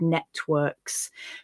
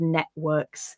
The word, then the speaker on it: networks: heard me read it i've read networks instead of networks whichever you do is absolutely fine it's one of those